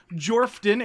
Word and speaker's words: Jorphdan: I have Jacob BUDZ with XP to level 3, the strikingly handsome Jorphdan, aka the PH is silent.